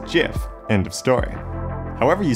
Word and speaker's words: GIF: pronunciations they are wrong it is a soft g pronounced jif end of story however